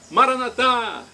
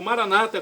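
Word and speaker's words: Maranatha: de Jesus eu clamo maranat como dizemos nossos católicos ou Maranata como dizem nossos irmãos separados os evangélicos ou protestantes não importa pronúncia o significado é o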